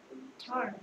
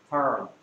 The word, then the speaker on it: turn: 네, 얘는 turn. turn. 그렇지, 발음 좋네요. turn. 발음이 조금 어려운데요. T는 to, U는 힘 받아서 어, R은 er, N은 n. 그래서 talk to or turn. turn.